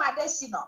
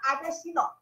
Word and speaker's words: Adesina: Femi Adesina, I now call him Adesina. You all need to get the pronunciation right. His name is Adesina, not Adesina.